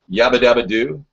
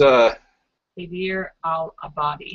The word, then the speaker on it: Haider al-Abadi: I think his name is Yabadabadoo. His name is Haider al-Abadi. Al-Abadi, yeah. Haider al-Abadi. Yabadabadoo was not the correct pronunciation.